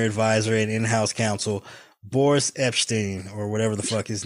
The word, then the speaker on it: Epshteyn: Citing irreconcilable differences with Trump's senior advisor and in-house counsel, Boris Epshteyn, or whatever the fuck his name.